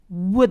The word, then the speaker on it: would: would have를 contraction해서 would have, would have. 이 would 발음하실 때요. 물론 책으로 배우신 영어라서 would 이렇게 발음하시는 분들이 있어요. W를 반드시 발음해 주셔야 됩니다.